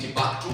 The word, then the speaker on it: Timbuktu: I pronounce it as Timbuktu, you can pronounce it as Timbuktu, you know, it is how you pronounce it, but it is Timbuktu, Mali.